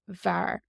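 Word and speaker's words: bhfear: BH is usually pronounced like a V in the Irish language.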